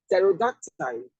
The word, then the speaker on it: pterodactyl: Pterodactyl, pterodactyl. This is lamb, lamb, not lamb. The B is silent.